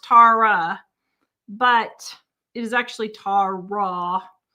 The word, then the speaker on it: Tawra: Tawra is Tara.